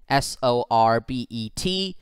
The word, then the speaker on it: sorbet: final question of this episode choose the best pronunciation of the word s-o-r-b-e-t from the following options is it sore bet